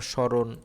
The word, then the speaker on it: স্মরণ: শব্দের শুরুতে যখন ম ফলা থাকবে সেটা হচ্ছে এটা কি শব্দের শুরুতে যদি ম ফলা থাকে সেটার উচ্চারণ কিসের মতো হবে, অ এর মতো হবে। যেমন এই যে শ্মশান, তারপর স্মরণ ইত্যাদি।